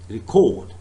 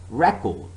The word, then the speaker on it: record: second in the noun record or object so the first syllable is stressed but so far as the verb is concerned remember the second syllable is stressed record object if i say